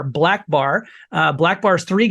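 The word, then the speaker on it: BLK Bar: um black bar um it's spelled BLK B- a r black bar uh black bar is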